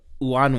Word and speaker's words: Unanue: of the things that's most interesting about Bob wanway way did I pronounce that correct yes right one of the